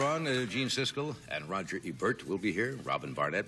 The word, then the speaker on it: Ebert: we have gene Cisco I pronounce Rogers last name wrong it's Ebert right Ebert Ebert I said I said either and it's Ebert Ebert yes it is I'm sorry about that